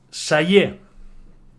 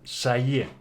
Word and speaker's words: celler: Sayé. ¿Vale? Sayé. Aunque tenga R final, no se pronuncia, sino que es sayé.